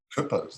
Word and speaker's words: Kuppers: Either one is fine. It's a reclaimed word. Doesn't really exist, the umlauts. I lost the umlauts, so now no one knows how to pronounce it.